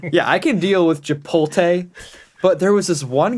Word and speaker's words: Chipotle: The worst thing, and this is what I tell everybody, is like, so Chipotle. That is how it's pronounced.